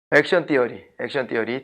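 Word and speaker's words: action theory: 액션 띠어리. TH 발음 놓치지 않습니다.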